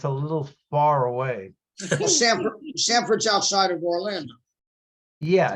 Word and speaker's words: Sanford: Well, Sanford's outside of Orlando. Yeah, It's in that, But Yeah. you said Stamford, like Connecticut, Yes. No. because that's where Stanford, Jackie not Robinson Stanford, lived. not Stanford, Sanford.